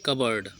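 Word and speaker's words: cupboard: कप बोर्ड हम लोग कहते हैं कभी कभी, लेकिन वास्तव में कप बोर्ड नहीं होता है। क्या कप बोर्ड? स्पेलिंग याद रखने के लिए वास्तव में इसका उच्चारण क्या होता है? कबर्ड।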